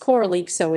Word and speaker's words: Corralejo: Corralejo. Corralejo, pronounced Koraʻlexo, is a town and